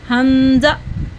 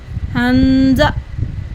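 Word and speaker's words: همزة: तो dear kids, हमज़ा हलक के निचले हिस्से से थ्रोट के रूट से अदा होगा। जहाँ पे गले का एंड होता है उसको थ्रोट का रूट कहा जाता है, ठीक है। हमज़ा pronounced from the lowest part of the throat, ठीक है। इसको हमने गले के रूट से अदा करना है, गले की जड़ से अदा करना है।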